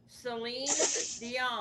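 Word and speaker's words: Céline Dion: Seline Dion. Selene Dion.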